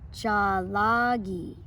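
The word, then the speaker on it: Tsalagi: sing traditional lullabies in Salagi, which that's the language of the Cherokee people. So here, let's pronounce it together. Jalagi.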